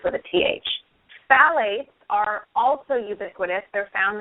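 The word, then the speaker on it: phthalates: h a l a t s but it's pronounced phalates with a th phalates are also ubiquitous they're found in I believe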